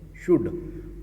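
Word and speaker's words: should: शुड, यहाँ पर L silent है।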